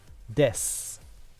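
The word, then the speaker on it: です: And it's the same thing that when we learned Ohayo gozaimasu, the U on des gets mostly chopped off. It's almost silent. So in my case, I would say, watashi wa Kitsuneko desu.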